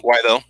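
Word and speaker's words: Guaidó: of letters, but yeah, it's Guaido or Kudo, however you're. Guaido. Yeah, Juan Guaido. Yeah, that's it.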